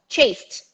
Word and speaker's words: chased: we have chase chase so chased chased you go to the t because it's natural to go from no vibration to no vibration oh my god i